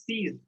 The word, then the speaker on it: six: Pronounced as seas. Pronounced as seas.